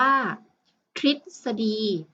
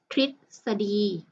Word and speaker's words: ทฤษฎี: ทหาร นะ คะ หัว หรือ ประสม กับ พยัญชนะ ที่ เป็น ตัว ท. ทหาร จึง อ่าน ว่า ทฤษฎี ทฤษฎี นะ คะ คำ ที่